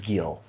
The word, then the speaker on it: GeIL: South Africa at least I believe it's pronounced Gill anyway this